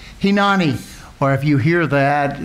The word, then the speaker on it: Hineni: But the title is Hinani. Hinani. As you know, the I's in Hebrew are pronounced with an E. So it's Hinani.